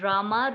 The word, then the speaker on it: Rama: mantra or great mantra krishna pronounce krishna and rama rhymes with drama are sanskrit words hare